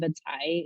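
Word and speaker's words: vadzaih: And so, certainly when you go to a community like Old Crow, the Vantak Gwich'in, and Vatai is how you say caribou in Gwich'in, that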